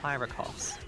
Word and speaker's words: Karakos: How is Karakos pronounced? I have been reliably informed that it is Kyrakos.